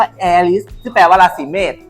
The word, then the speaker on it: แอริส: ยิ่ง ใหญ่ อะไร ไง แอริส จริง มัน ควร ออก เสียง ว่า แฮร์ ริส แต่ ว่า ราศี เมษ